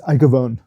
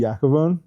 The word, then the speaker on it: Iacovone: how's your last name pronounced? It's Iacovone. Iacovone? That's Iacovone. Americanized Italian, huh? Yeah, so I think it's supposed to be Iacovone.